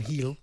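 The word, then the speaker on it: Bryan Gil: And Brian Heel, I think that's how you say his name. Brian Heel, that's how you pronounce it. You don't say Gill? No, it's Hill.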